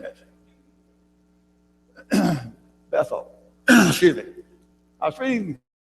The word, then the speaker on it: Bethel: So you don't say Bethel or Bethel, we would say it, but it's Bethel. The emphasis on both of them. The importance, the point this article is making, the importance of both syllables of the name there, because it is the house of God.